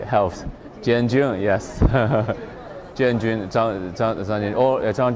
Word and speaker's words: Jianjun: called or Zhang Jianjun, January, pronounced January and June, right? Helps. Jianjun, yes. Jianjun, Zhang or Zhang Jianjun, yeah.